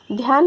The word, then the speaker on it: ध्यान: यहाँ पे बोलने में, प्रोनाउंस करने में अलग अलग हो जाता है, जैसे ध्यान। ध्यान यहाँ पे आधा ध है, लेकिन जब बोलते हैं तो यहाँ पे ध्यान लिखते हैं।